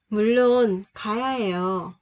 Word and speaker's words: 물론: Hai chữ R gặp nhau thì chữ thứ hai mình sẽ đọc là L.